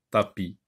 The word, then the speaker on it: tapis: Et là, vous avez une lettre muette qui ne se prononce pas. Tapi.